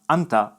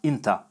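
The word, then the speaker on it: أنت: constantly also notes that the Arabic second person masculine singular pronoun Anta is pronounced Inta all of the pronouns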